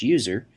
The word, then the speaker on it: usr: by the system administrator slash USR often pronounced slash user which contains software that